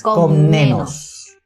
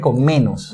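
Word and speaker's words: Komnenos: n o s es con nenos Exacto o sea Parece que fue ese con menos no es con menos es con nenos con nenos Mira él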